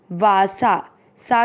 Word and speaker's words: वासांसि: पहला चरण वासा, सा के ऊपर जो बिंदी है उसका शब्द के बीच में इसलिए आधा न पढ़ेंगे। वासान और फिर सी, वासांसी।